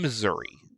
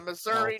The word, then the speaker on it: Missouri: I'm in Missouri. Okay. Uh Missouri Northwest. I the the state that rhymes with misery.